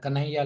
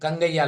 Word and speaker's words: कन्हैया: कि ह शब्द है, जो हिंदी का ह शब्द, वो तमिल में ग प्रोनाउंस किया जाता है। सो क्या हो गया यहाँ पे, जब मैंने नाम बोला कि मेरा नाम कन्हैया है, तो दे स्टार्टेड कंगैया । ह पर्टिकुलरली दे कॉल इट ग।